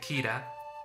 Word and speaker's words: Keira: nightley gira en español keira pero en inglés se pronuncia gira y corresponde a la